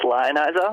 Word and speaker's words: Lionizer: It's just Lionizer. Oh, Lionizer.